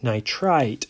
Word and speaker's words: nitrite: need to memorize is the nitrite emphasis on the ite that i pronounce there for the end nitrite ion it distinguishes it from the nitrate ion this is no2 single